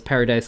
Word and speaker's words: Paradis: called paradise island or a lot of people pronounce it as paradise island and that's not necessarily wrong either because the marlians they